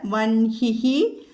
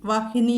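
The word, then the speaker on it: वह्नि: ഇവിടെ വൻഹിഹി അനിലഹ 2 അക്ഷരങ്ങളാണ്, 2 അക്ഷരമല്ല വാക്കുകളാണ്. വൻഹിഹി അനിലഹ. അപ്പോൾ അവിടെ രേഭം വന്നിരിക്കുന്നു, വന്നിരിക്കുന്നു. വൻഹി അതാണ് അവിടെ ഉച്ചാരണം വരുന്നത്. വൻഹി, വഹ്നി എന്നല്ല, വൻഹി.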